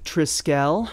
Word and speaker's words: Trisquel: does seem like it's triscale so like skeleton so it's Tri as in trim and scale as in skeleton so Tri scale so